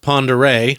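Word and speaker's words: Pend Oreille: of Lake looks like it's spelled pend Orel pronounced pond array yeah the Ard Bay View in the Navy's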